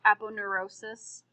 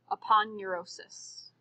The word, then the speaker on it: aponeurosis: And I've heard this pronounced a couple of different ways. I'm a fan of aponeurosis. I've also heard instructors call it aponeurosis, whichever you want.